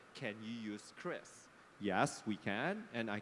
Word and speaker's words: QRIS: explaining it is not QRIS, it is not QRIS, it's CRIS. So this is a proof of a real player in the ecosystem that he's pronouncing it correctly.